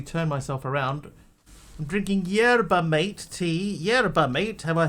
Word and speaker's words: yerba mate: Just learned how to pronounce it correctly. It's yerba, mate.